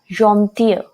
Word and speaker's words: gentil: Gentil, you can compare it with the pronunciation of fear, the girl. Gentil.